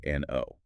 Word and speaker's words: Soekarno: His name is spelled Soekarno, but later on it's the modern U. Ah, right. That's just the old Dutch orthography. The O makes a U sound in Dutch.